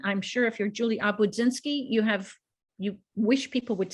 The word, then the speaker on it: Obudzinski: I'm sure if you're Juli Obudzinski, you wish people would say it routinely and pronounce it correctly.